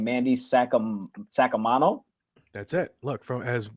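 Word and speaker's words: Saccomanno: actual last name, Mandy Sacamano. That's it. Look, from as an Italian myself, Sacamano is exactly, that's the way to say it.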